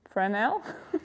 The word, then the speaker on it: Fresnel: what what do i you don't pronounce the s in english fresn how do i not pronounce the s in fresnel fresnel for netherlands okay for